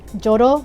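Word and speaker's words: 조로: differently in Korean um letters like Z turned to J so it's going to be jodo instead of Zoro oh we have a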